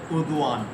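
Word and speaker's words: Erdoğan: हाँ, और तो जी उससे साइलेंट हो गया। थोड़ा सा और करके, और जैसे सही। रजब तैयब उर्दुआन, उर्दुआन है।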